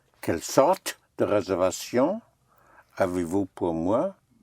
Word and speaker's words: sorte: Quelle sorte? Right. Quelle sorte? Sorte. Quelle sorte? Quelle sorte? Quelle sorte? Sorte is spelled S-O-R-T-E.